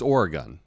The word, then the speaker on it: Oregon: be here in Portland, Oregon," everyone will just boo, right? Because it's Oregon. Just think knife or a gun, right?